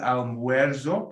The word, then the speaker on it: almuerzo: El almuerzo, put a W above the UE.